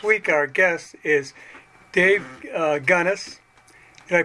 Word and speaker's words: Gunness: This week our guest is Dave Gunness. Did I pronounce that right, Dave?